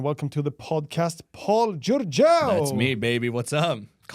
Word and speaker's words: Giurgeu: Welcome to the podcast, Paul Giurgeu.